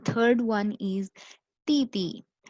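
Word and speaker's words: 弟弟: The third one इज ती ती। टी टी, ये डी आई होता है, पर इसको डी डी नहीं पढ़ते, इसको हम डी को टी की साउंड प्रोनाउंस करेंगे।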